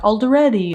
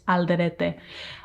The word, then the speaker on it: Alderete: They'd be like Alderete. No, it's Alderete, which is technically considered like Spaniard.